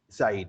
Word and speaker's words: Said: And I'm sorry for pronouncing your name wrong in the beginning, so it's Said, right? Saeed, yep.